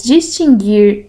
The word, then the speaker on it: distinguir: As palavras distinguir, extinguir e adquirir não têm o U pronunciado.